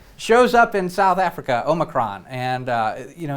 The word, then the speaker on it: omicron: it i got it it's not omnicron it is omicron or omicron because omega oh micron we missed new and